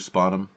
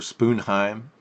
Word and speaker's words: Sponheim: at conventions yeah yeah people get my name wrong some people call me Mr spanm or spoon Heim actually you can pronounce it spoon Heim that's okay that's the one yeah I don't want